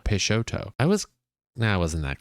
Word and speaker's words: Peixoto: I could have just read the top of the logo where it tells you how to pronounce it it says pay show peshoto I was I wasn't